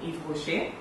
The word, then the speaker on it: Yves Rocher: Eve, like the lady in the Garden of Eden.